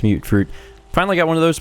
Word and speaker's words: Mutfruit: I had pronounced it mutt-fruit, uh, someone else corrected me, said it's Mute-fruits.